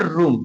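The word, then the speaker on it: room: इसका एग्जांपल की बात करें, आर ओ डबल एम, इसे पढ़ते हैं रूम।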